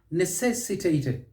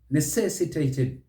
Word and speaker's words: necessitated: one aha necessitated necessitated another word with up to six syllable you can use it very well but don't say necessitated necessitated stress is on the second syllable and then you'll get it right necessitated necessitated how about this